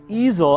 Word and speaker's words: Eazel: this app is called eel easel I know what an easel is but it's not spelled like that those are all the